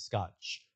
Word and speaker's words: Scott: Because my first name pronounced in Portuguese in Brazil is Scotch. They don't have a T at the end.